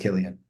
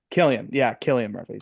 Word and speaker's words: Cillian Murphy: Dark Horse, Paul Giamatti, and the will win, Cillian Murphy. Wait, I said that right? I think it's pronounced Killian. Cillian Murphy.